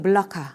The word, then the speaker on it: 말라카: 이렇게 정한 것입니다 4 말라카 는요 말레이어로 이제 물 라카 말라카 뭐 다양하게 부릅니다 그리고 또 뭐 현지 사람들의 말을 들으면 뭐 몰라 말락 뭐 이런식으로 발음을 하기도 하고요 근데 이제 우리는 그냥 한국어 발음에 적절하게 가장 이제 비슷하게 말라카 이렇게 그냥 씁니다 뭐 때에 따라서는 몰라